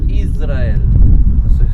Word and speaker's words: Jezreel: el valle de Jezreel se dice Israel se suena parecido a Israel, pero no se escribe igual dentro de este gran